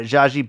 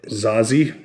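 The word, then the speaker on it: Zazie: But, uh, Zaji Beats is, uh, Zazi. Is that how you say her name? Zazi. Zazi. Is it Zazi? Okay. There's no H in there.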